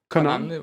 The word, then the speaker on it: Connan: A commentator and novelist Tom Connan is with us, or Tom Connan, I should say. Connan, great. Pronounce it right, okay.